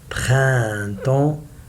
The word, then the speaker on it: printemps: The last 4 letters, I say it like en. Printemps.